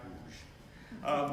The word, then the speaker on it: Łódź: The city of Łódź, and if you look at it if you see it written, it's spelled L-O-D-Z, but it's pronounced Łódź.